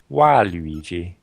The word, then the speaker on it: Waluigi: This is also the case for Waluigi, Bad Luigi, and works even better in Japan, where his name is pronounced Waluigi.